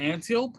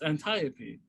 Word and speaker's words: Antiope: And then Antiope. Like I'm an Antiope? No, it's Antiope.